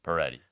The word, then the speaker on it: Pareti: Peri. Peri.